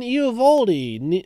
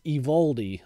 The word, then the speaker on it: Eovaldi: dar graterol uh Nathan eovaldi or I think that actually I think that's evaldi I don't think the O's pronounced you can correct me